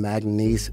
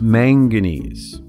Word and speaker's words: manganese: cool those other little elements titanium vadium chromium magnes magnes it's pronounced manganese if you're going to invent a new periodic